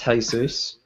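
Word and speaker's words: Jesús: jesus wept and I think you'll find it's pronounced hay-soos hey exactly get it right chase that it's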